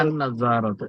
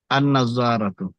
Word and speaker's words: النظارة: النظارة চশমাটি النظارة এখানে আন নাজারাত। এখানে লামটা উচ্চারণ হবে না, নাজ্জারাতুন। আন নাজারাত।